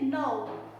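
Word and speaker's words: नौ: second number is nine to pronounce mine in Hindi we have to say no no as you say the word no in English you have to just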